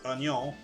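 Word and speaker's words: oignon: Like if you look at the word onion in French. Like you would say you would say it o n i o n in French. Ano, but it's spelled o i g n o n. And there's that I there.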